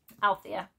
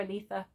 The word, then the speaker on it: Althea: allegiance is to Elisa Althea I keep calling her Aletha she's Althea I'll try and say her